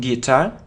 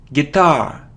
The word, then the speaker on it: guitar: tomato tomahto a tomato so it isn't guitar its guitar guitar so the stress is on the second syllable guitar it isn't easel or